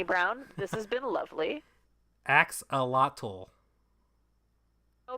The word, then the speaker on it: axolotl: Axolotl. Oh, because it's Mayan and the X gets pronounced as a ch sound.